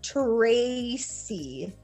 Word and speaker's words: Tracy: This is Tracy. Tracy is Kim. Yes, but this C is a soft C because it's with the Y. So it's C instead of key.